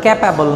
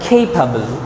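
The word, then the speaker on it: capable: না কনজারভেশন, এটার উচ্চারণ ক্যাপাবল না এটার উচ্চারণ কেপাবল।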